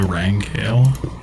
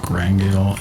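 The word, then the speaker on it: rangale: I've heard it pronounced like Rangail and also like Rangle.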